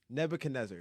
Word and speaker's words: Nebuchadnezzar: wait wait wait wait Nebuchadnezzar everyone not saying it right nebuch neb neb Nebuchadnezzar yeah Nebuchadnezzar Nebuchadnezzar that's how you say it yep I need to